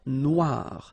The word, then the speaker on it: Noire: Then here, la mer Noire. Same thing here that we had previously. Final not pronounced, okay? And then OI, remember, wa, noir, noir. La mer Noire, okay?